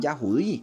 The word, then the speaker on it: Yahudí: Que no son judíos, son Yahudí, se dice Yahudí, pero ellos por negar el nombre de Yahweh, entonces ellos mismos se hacen llamar judíos, pero no es judío, es Yahudí como se dice.